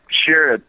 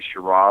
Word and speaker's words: Sherrod: Well, it's Sherrod, but I'm from South Georgia, and I hear people say Sherrod all the time.